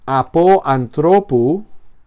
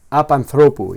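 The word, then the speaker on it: ἀπ' ἀνθρώπου: pronuncia con la siguiente apanthropu. Y en este caso todo sintagma preposicional se pronuncia como si fuera una sola palabra, apanu.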